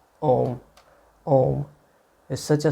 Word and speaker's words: om: basis of all sounds the first letter a is this root sound the key pronounced without touching any part of the tongue or palate m represents the last sound in the series being produced by the closed lips and the u rolls